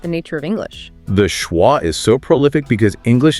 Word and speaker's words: schwa: The schwah which is represented phonetically as schwra is that relaxed central uh sound like the a in about uh exactly the